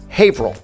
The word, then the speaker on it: Haverhill: Same with Haverhill. No, it's Haverhill.